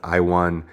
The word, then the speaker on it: Ion: won it's ion so people say ayan kutalaba but i think it's pronounced i won kute lava the moldovan fighter who